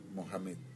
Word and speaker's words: Mohamed: Su nombre es Mohamed, se pronuncia, Mohamed, ¿sí?